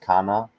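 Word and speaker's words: كان: speak about this one um Um, so it's pronounced kana.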